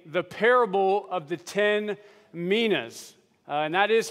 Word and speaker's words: Minas: to be tackling the parable of the 10 Minas uh and that is how it is pronounced uh I did a couple Google searches